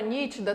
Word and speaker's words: nítida: A palavra nítida tem 3 sílabas, nítida. E a sílaba mais forte é a antepenúltima.